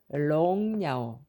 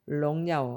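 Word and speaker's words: 榮耀: 중국어 발음은 이거를 영으로 가지 않고 롱으로 가거든요. 롱야오, 롱야오 하면 하나님께서 아주 영화로운 빛나는 분이시다 할 때 많이 씁니다.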